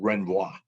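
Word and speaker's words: renvoi: injury occurred all right the other thing is called renboi and i've got a nissu married a french guy flew it in french and i checked and that's how you pronounce it because god knows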